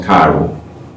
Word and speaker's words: chiral: That word is pronounced chiral.